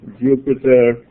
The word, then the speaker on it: Jupyter: I give this command Jupyter, as in the planet, except it's spelled with a Y, notebook.